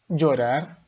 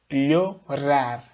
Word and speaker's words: llorar: A primeira seria llorar, com som de DJ, e aí lembra do DJ, né? Llorar, DJ, ok? Depois, llorar, llorar, seria o nosso LHO, ok?